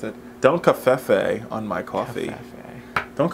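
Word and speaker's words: covfefe: Don't cafefe on my coffee. Cafefe. Don't cafefe on my face. I feel like it was a harder, for me, it was like a harder V. Like cafefe or cafefe?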